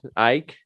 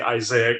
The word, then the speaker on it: Ike: You want to bring in Ike? Ike. Let's see. Yeah, Ike. I like Ike. Yeah, but he's gone. Or some people will mispronounce his name and say Isaac or something like that.